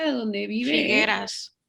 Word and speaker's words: Figueras: Sus cuadros se expusieron en el Teatro Figueres, ay, ¿cómo se pronuncia de donde vive? Figueras. Figueras, y más tarde es donde construyó su museo, en ese teatro.